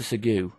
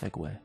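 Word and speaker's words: segue: Segu. Wait. Oh, it's pronounced Segway.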